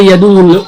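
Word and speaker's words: يدع: যারা আমরা অনেকে বলি ইয়াদুল ইয়াতিম না ইয়াদুল ইয়াতিম কোন শব্দ না ইয়াদু এখানে আইনের উপর তাসদীদ আইনটাকে দুইবার উচ্চারণ করতে হবে ইয়াদু ইয়াদু ইয়াদু ইয়াদুল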